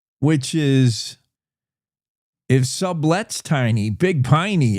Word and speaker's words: Big Piney: is if sublets tiny big piny is rhymes with tiny tiny big piny it's barely a I